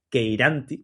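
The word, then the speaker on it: cheiranthi: En este caso, la especie que se extinguió en Tenerife es Pieris queiranti, que yo digo queiranti, pero se escribe cheiranci con TH, queiranti, que es la subespecie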